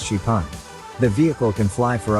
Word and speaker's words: XPeng: can fly the company calls it Spang pronounced sheepan the vehicle can fly